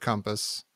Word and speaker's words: compass: I typed the word compass, I was like, even now saying compass just now, I think I say compass. Yeah. I don't say compass. Yeah, I pronounce it like a U.